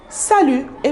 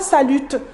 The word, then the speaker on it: salut: Pour saluer, vous avez salut, salut. Et bien sûr, ici, on ne prononce pas le T, on ne dit pas salute, on dit salut.